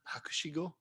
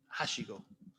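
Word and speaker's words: 博士号: phd at the moment i think japanese for phd is hakushi go and um i keep missing out one of the syllables and saying hashigo which means ladder i am studying for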